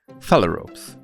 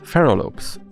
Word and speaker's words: phalaropes: Phalaropes, often mispronounced by me as pharaohs.